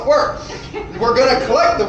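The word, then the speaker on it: wort: water is now called worked so we pronounce it w-e-r-t it's spelled w-o-r-t that's because the German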